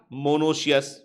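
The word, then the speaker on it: monoecious: reproduction को बोलेंगे हम मोनोश अस ठीक है मोनोश अस क्या बोलेंगे ट इसको मोनो शस ठीक है ना स्पेलिंग है एम ओ एन ओ सी आई ओ यू एस मोनो सेस बोलेंगे इसको हम ठीक है क्लियर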